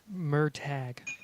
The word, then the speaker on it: Murtaugh: Murtag. Tag. Well, okay, sorry. I'll have to change the spelling to just take out the H.